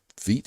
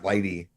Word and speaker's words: Vite: Because I would have said Vite, Vite yeah, it's or Vitey. yeah. Uh, People pronounce it different ways, but Evan Yu pronounces it Vite, I believe.